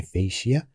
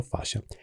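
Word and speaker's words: fascia: شيء يسمى بالفاش فاشا اكو بعض الناس يسميها فيشيا لكن هي الامانه النطق الصحيح لها هو فاشا لما نتكلم عن الفاشا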